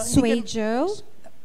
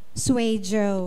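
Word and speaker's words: Suizhou: as in Zebra Yeah parang zwe zuu pero kasi Iyung Z donon is J zj Like for example guang Zoo No it's guang Joe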